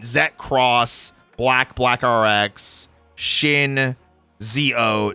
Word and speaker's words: ZO: Cross, Black RX, Shin, ZO, J. There we go. ZO is after Decade. Oh. Wait, no, the movie. ZO. The movie. Or is that pronounced differently? Oh, Z-O.